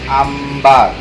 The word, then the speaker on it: Amber: Ini namanya ambar. Amber, bacanya ambar.